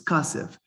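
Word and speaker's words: כסף: So kesef is kasef, teven is for the Bali Kriya, Elisha.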